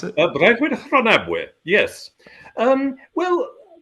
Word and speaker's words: Breuddwyd Rhonabwy: heard much of this next one you mentioned, Breuddwyd Rhonabwy. Is that how you pronounce it? Breuddwyd Rhonabwy, yes. Well, Breuddwyd Rhonabwy, again, another Welsh scholar, Brynley Roberts, who was